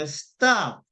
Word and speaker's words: stop: 그래서 stop은 사실은 이제 stop 두 개의 소리를 발음하면 틀리고 스는 소리가 없기 때문에 약하고 작게 예 그러면 방금도 stop 이러시면 안 되고 stop 거의 스가 좀 많이 안 들리잖아요. 그러니까 stop 예 stop 이렇게 좀 약하고 작게 그리고 뒤에 있는 그러니까